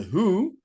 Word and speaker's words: Hu: Not to be confused with The Who, this band is spelled H-U, they are a Mongolian band, and the music video features Lzzy Hale from Halestorm.